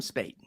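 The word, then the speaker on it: Spaight: the quote you read there from, is it Spate? Is that how you say his name? In the Bombing Vindicated book? J.M. Spate, yeah.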